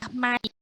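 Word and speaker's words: maïs: Contoh, mais, itu I-nya harus dibaca mais.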